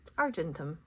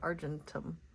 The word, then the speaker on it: Argentum: Argentum. Like Argentina, but Argentum.